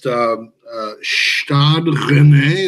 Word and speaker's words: Stade Rennais: So we're in the round of 16 against Stade Rennais.